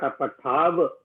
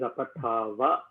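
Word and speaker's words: अपठाव: It is not apathav, it is apathava. And ma apatama. Uttamam. There is no halanta, so you have to pronounce the full matra.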